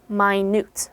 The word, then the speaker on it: minute: minute it's spelled the same way but it's pronounced minute okay minute means incredibly small incredibly tiny synonyms